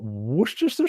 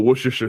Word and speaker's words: Worcestershire: whatever Domino orders a drink and says put Worcestershire sauce in it it's common in a Bloody